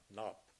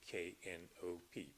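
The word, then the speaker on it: Knopp: woman in Marietta was Emma knop spelled with a k k n o p p Emma knop there was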